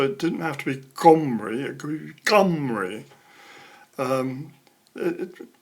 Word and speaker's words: Omri: Omri is spelt like that in Hebrew, and you have a letter at the start of the name that's sort of like a G, but not pronounced. So it should also be pronounced Gomri. It's this sort of guttural sound, almost not spoken.